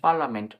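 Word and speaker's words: parliament: ই এনটি পার্লামেন্ট পার্লামেন্ট পার্লামেন্ট বলছি না এখানে পার্লামেন্ট উচ্চারণ করছি তো আমরা এরকমভাবে ইত্যাদি ইত্যাদি আছে তোমরা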